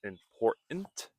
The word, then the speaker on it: important: The first sound which is important. Notice important. It is important. Important. We can practice saying important is the t sound. but more specifically the silent T or even the flap T sound which if you have